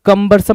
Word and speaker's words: cumbersome: अब तुम पढ़ोगे सर कंबरसम नहीं है सर, ककम्बर है, तो जबरदस्ती का ककम्बर नहीं बना देना इसको, कंबरसम है भाई, CUMBERSOME।